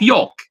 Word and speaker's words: yolk: So now you should give me food that starts with K, the last letter of yolk. And by the way, for yolk, we don't pronounce the L.